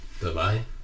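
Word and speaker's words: давай: So that is so like you see how the accent is over the A. Yeah. That just infers that that's the stress syllable, because in Russian you only have words with one stress syllable. We talked about vegetables. Yeah. And then that one there, without that little thing on top of it, that would be E, but it's a Y glide, so davai.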